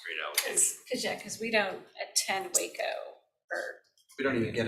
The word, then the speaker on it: Waco: It is pronounced Waco, not Wacko. Yeah.